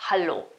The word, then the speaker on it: hallo: Ricordiamoci che ha la A anziché la E e la pronuncia è anche diversa perché comunque da hello vi diventerà hallo, ovvero un hallo vero e proprio.